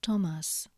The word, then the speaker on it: Thomas: example Tua but grazia th is pronounced as the T in toast for example Thomas GN is pronounced like